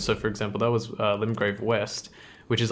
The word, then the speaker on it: Limgrave: The domain of Limgrave is how you pronounce that apparently.